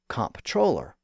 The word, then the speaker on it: comptroller: And eventually, people accepted the alternate spelling as a distinct word, and they started to pronounce it like it was spelled. And that gave us the modern term comptroller.